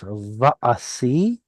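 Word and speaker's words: וַעֲשִׂי: But there's no mem. It's va'asi.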